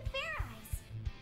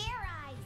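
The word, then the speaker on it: Fairize: Now that your tension's high enough, you can fair ice. Fair ice? Is that sort of like fair fried rice? Fairy fried rice. It's pronounced oh. Fair eyes. Oh. There's no ice in it. Fair eyes, no ice.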